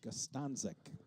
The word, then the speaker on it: Gostanzik: That's how it's pronounced, Gostanzik.